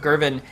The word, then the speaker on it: Gervin: forever I will say I pretty my mispronounced his name for about a year and a half but once I was with SSG they did correct me I had been saying govern for the longest time but he's really shown